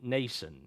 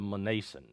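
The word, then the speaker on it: Mnason: M generally in this case is silent, so it would be Nason instead of Manason. They brought him to a house of a certain Nason of Cyprus, and he's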